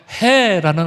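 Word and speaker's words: ה: 둘 다 히브리어 알파벳 해라는 알파벳이 붙습니다 영어로는죠 제가 신학교에서 히브리어 배울 때 신학교 3학년 때 알파벳 배울 때 교수님이이 해라는 알파벳을 가르쳐줄 때 해 이렇게 발음하라고 가르쳐 주셨어요 왜 그러냐이 알파벳 해는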